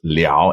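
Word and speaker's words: 了: and think it's l it's actually pronounced Le in this context and it has a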